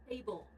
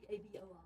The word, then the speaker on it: Tabor: Table. Who? Table. How do you spell it? T-A-B-O-R.